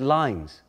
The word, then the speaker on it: loins: from forth the fatal loins of these two foes the line goes on I said lines because the words were pronounced the same in Opie and forth the fatal